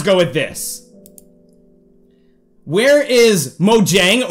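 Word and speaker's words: Mojang: with this where is mojeng or mo yang as is pronounced in swedish the company that makes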